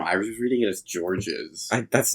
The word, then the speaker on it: Georges: Of course, in English, this is known as George, but how do you say it in France? We say it as Georges.